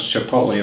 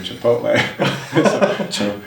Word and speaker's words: Chipotle: We were joking at work, what if we pronounce Chipotle the way we do Aristotle, or Aristotle the way we do Chipotle? That's why I call it Chipotle.